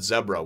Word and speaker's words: Zebra: and we've heard about zebras which is the fourth one and keep wanting to say Z bricks that's how it's spelled but everybody tells me at zebra but anyway zebra zebra